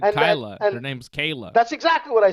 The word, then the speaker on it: Kayla: And if Kyla comes into this division at Kayla. 135, that's what I said, Dave. No, you said And- Kyla. and- Her name's Kayla.